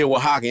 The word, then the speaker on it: Oaxaca: Yeah, Oaxacan. It start with an O though. Yeah, I know. It's O-X. No, for real. How you say it, Carlos? Oaxaca. Oh, Oaxaca. See?